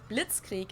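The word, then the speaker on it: Blitzkrieg: used way before that we pronounce it Blitz Creek in German and it literally translates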